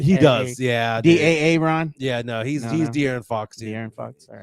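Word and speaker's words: De'Aaron: Da Ron.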